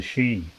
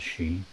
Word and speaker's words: Sidhe: them, known as the She. And the She are quite remarkable beings. I think it's a Gaelic word, She, because it's spelt Sidhe, with an accent over the E.